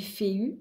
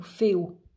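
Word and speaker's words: Fehu: Elle correspond au son produit par notre lettre F. Donc c'est pour ça qu'on dit Féu ou Féo.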